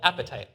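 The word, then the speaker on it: apatite: And that spooky skeleton is made of among other things um a mineral called appetite which is funny right your teeth are called appetite it is spelled different but uh the chemical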